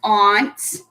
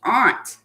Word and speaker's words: aunt: it does a you is an aunt or aunt a lot of people pronounce it aunt like mine I have an auntie em but it actually should be pronounced aren't because it starts with a you Zoey is